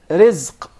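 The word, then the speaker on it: رزق: Rizq. Rizq. Rizq. Rizq. Did you notice here the ra is very soft and light?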